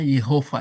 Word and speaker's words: Yehova: Yh ini ya harusnya bacanya Yehova ya kalau dalam ya bacaan ya.